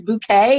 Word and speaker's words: bouquet: she was like, it spelled like bucket, but it's bouquet, and I was like, oh no.